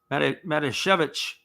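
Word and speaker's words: Matijevic: it is spelled m-a-t-i-j-v-e-c-a-c they say the fanatic pronunciation is madishevich we hope we're saying it correctly is a bit of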